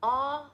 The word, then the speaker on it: Ağa: When there's a G with a little hat over it, it just means elongate the vowel. You don't actually pronounce the G.